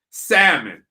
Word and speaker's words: salmon: and everything on the salmon salmon okay i can't pronounce that l it's silent but uh yeah so he's